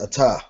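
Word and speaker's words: אתה: So if you were saying this to a male, like I know you heard the barakata, that's ata.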